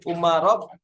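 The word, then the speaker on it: عمر: Dari Ali bin Husain an Umarob ni Utsman. Nah, ini antum harus hati-hati ya. Kalau ain mim ro itu Umar bacanya. Tapi kalau ain mim ro wawu Amrun itu.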